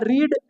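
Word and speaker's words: read: अब देखिए, पढ़ना क्या होता है रीड, और रीड का तीसरा रूप रेड, स्पेलिंग सेम, लेकिन उच्चारण में हिंदी में क्या पढ़ेंगे इसको, रेड।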